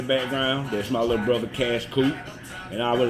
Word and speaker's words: Qash Qoop: It's spelled Q A S H Q O O P. That's cash cute with a Q.